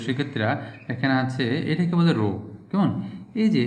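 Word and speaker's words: ρ: 2 নম্বর সূত্র দেখো প্রিয় শিক্ষার্থীরা, এখানে আছে এটাকে বলে রো, কেমন? এই যে চিহ্নটা, এই যে প্রত্যেকটা এটা করে রো বলেছে, হ্যাঁ, উচ্চারণটা কীরকম আমি এদিকে রেখে দিচ্ছি, এরকম করে দিবা।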